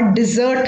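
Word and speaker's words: desert: जो next pair of confusing word है वो है डेजर्ट और डिजर्ट का। अब इसमें देखिए आपकी प्रोनाउंसिएशन में भी फर्क है, पहले वाले को हम डेजर्ट बोलते हैं और दूसरे वाले को हम डिजर्ट बोलते हैं।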